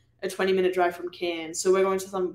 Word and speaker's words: Cairns: That, like, I feel like Americans pronounce it as, like, Cairns or Cairns. I haven't known. How do you say it? Cairns. Cairns. Like a can of beer.